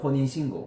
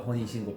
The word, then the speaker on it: 혼인신고: in America 우리는 혼인신고라 불러 We call that "honin shingo" 한국에서는 혼인신고한뒤에 We did the hongae shingu after (I said it wrong) 그리고 나서 결혼식해